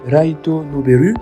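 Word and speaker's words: ライトノベル: Les light novels, dans la prononciation japonaise Raito Noberu, sont généralement des petits romans, donc des histoires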